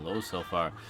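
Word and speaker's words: Ljosalfar: Ah, Loselfar. The J is silent.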